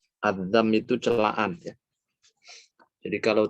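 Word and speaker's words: الذم: Bacanya dzal ya, bukan apa tadi bacanya? Bukan dha tapi dzal. Adzam itu celaan ya.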